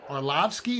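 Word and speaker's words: Arlovski: parlay he likes uh de lima and uh arlovsky is that how you say his name dave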